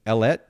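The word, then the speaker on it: Ellette: who is live streaming ellet studio am i pronouncing that correctly that that's right it rhymes with baguette okay and you've probably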